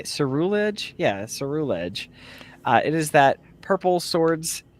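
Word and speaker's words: Ceruledge: Yeah, Cerulege.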